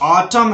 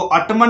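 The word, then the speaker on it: autumn: जैसे यहां पर ऑटम है, इसको ऑटमन मत पढ़ना। कुछ बच्चे ऑटमन पढ़ देते हैं जो कि गलत है। एन साइलेंट है, क्यों? क्योंकि एम के बाद यहां पर एन लग रहा है।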